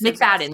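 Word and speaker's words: Macfadyen: her and Matthew McFadden I think is McFadden. That's how you say it.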